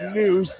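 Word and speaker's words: Nuss: The 5'11 senior spelled N USS pronounced Noose is going to the line to shoot one more.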